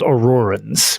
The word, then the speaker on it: Aurorans: Meridia's Daedra are called Aurorans, would be how you'd pronounce that. Aurorans.